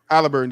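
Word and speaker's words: Haliburton: Halliburton, there you go.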